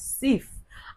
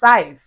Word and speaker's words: Saif: call Saif and then he pronounced it as Sif. And Sif was really quick to say, Biggie, it's Saif, Now, after the task